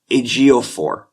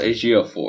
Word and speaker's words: Ejiofor: How do you pronounce EJ by itself? Ejiofor. Chiwetel Ejiofor.